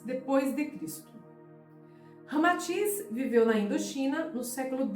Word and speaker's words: Ramatís: Unindo-se Rama e Atis, ou seja, Sita, ao inverso, então resulta Ramatiz, como realmente se pronuncia em indochinês.